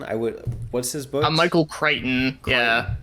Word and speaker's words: Michael Crichton: would what's his book Michael Crichton yeah like it's a c-r-i and then CH but you don't pronounce it like kreichon yeah yeah no he